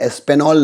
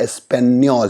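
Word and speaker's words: Español: तो ये एस्पेनॉल नहीं है, ये एस्पेनियोल है, एस्पेनियोल।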